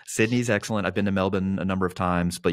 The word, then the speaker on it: Melbourne: be a fun time the fact that you said Melbourne right and you didn't say Melbourne is amazing okay so I like